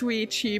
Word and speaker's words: Ouija: Hateable Vermin, yes, that's actually how I remember to pronounce Ouija board. Because it kind of sounds like Luigi.